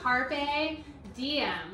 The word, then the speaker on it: carpe diem: Okay, how do you pronounce that I in Latin, though? It's like an E. Diem. So, carpe diem, which is seize the day.